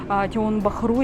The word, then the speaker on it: Tiong Bahru: интересный район, который называется Тион-Бару, Тион-Бахру, если знаете, так вот по-русски как пишется, так и читается.